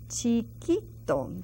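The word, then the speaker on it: chiquito: the letters and then Chito Chito that Q you that youu is silent we have gone again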